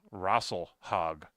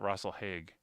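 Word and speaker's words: Rasalhague: on Twitter Twitter about how to properly pronounce Russell hog that's how you say it not Russell heg that's how it was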